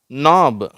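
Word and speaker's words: knob: ரப ரப ஓகேவா அடுத்தது நாப் இந்த கே வந்து சைலன்ட் ஆயிடுச்சு அதனால இங்க எதுவும் காணும். இந்த நு ஆப் நாப் அப்படிங்கறோம்.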